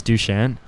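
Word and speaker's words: Dušan: of yeah because so my name is dushan um and so I'm named after the Emperor of Serbia uh the same name just like I pronounce it all Canadian stuff but like um but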